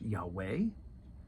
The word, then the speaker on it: Yahweh: I am right and is often been pronounced Yahweh um and you can't